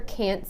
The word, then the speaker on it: can't: That stressed A, the long A, is what makes the difference. Rather than listening for a T from now on, listen for how the A is pronounced and you will know whether it's can or can't.